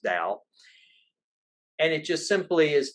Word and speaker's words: Dao: he uses the term the dao some people pronounce it tau but it's pronounced dao and it just simply is the chinese word